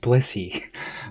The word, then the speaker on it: Blissey: It sounds like I'm saying Bussy, but I swear I'm saying Blissey.